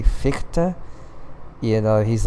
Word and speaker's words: Fichte: But anyways, ever since then I say Fichte, even though like everyone else says Fichte. Not me. I say Fichte. Yeah. Fichte. It's gonna make some people cringe.